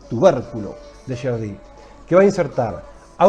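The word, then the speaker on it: Gerdy: pregunta que es el tubérculo de sherd con acento en la e tubérculo de sherd que va a insertar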